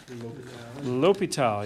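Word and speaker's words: L'Hôpital: this guy's name ever how to pronounce his name l'hopital yes the hospital for the French speakers in the room right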